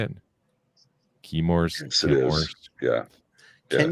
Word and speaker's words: Chemours: Chemours.